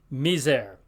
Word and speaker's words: miser: word sits all right except between two vowels or at the end of a word there it has kind of a a z sound to it for instance